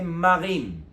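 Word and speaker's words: מָרִים: mots différents le premier au lieu de lire myiam on peut lire Marim ils sont arrivés devant les os et ces os étaient amè donc c'est le même mot mais avec des voyelles kamat et khiric ça fait Marim ensuite on a dit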